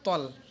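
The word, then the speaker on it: طَ: এই আইন, এই আইন এটা সহি শুদ্ধ করে উচ্চারণ করতে হবে। এরপর আয়াত ইহদিনাস সিরাতাল মুস্তাকিম। এই আয়াতের ইহদিনাস সিরাতাল, অনেকে তাল পড়ে, এটা হবে তল, তল মুস্তাকিম।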